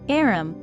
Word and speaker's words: arm: an arm or honor he pronounced it arum an arm you goose